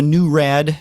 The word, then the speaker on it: NuRAD: But they have the new Rad, which is it's spelled Nurad, which is the woodwind type instrument that has keys that are side by side.